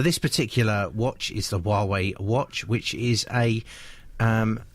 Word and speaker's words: Huawei: Huawei a Huawei watch Huawei it's spelled h UA Wei but it's Huawei a Huawei watch yeah